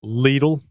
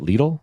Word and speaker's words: Lidl: That's how you say it. Lidle. Not lidle.